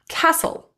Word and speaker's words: castle: Apostle, bustle, castle, gristle, hustle, nestle, rustle, thistle, whistle, and wrestle.